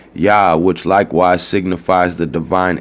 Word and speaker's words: Yah: The religious attendants calling to Yah to enable them humbly to supplicate seems to point out to the Hebrew custom of pronouncing it Yah, which likewise signifies the divine essence.